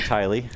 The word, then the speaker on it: Tyl: And everyone says my name is Tilly. And both are wrong.